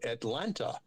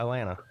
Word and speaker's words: Atlanta: The T the T is silent. Yeah, Atlanta.